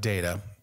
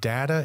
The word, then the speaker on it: data: when we talk about data you uh by the way data is the British pronunciation in America we say data telling you that also